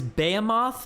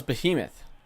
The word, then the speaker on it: behemoth: I thought it was behemoth. Behemoth. Behemoth. No, wait, no. I want to hear it. Dipshit. Behemoth. Oh, we're good. Okay. American pronunciation? Behemoth. No. Closer. Moth is in there in the British one.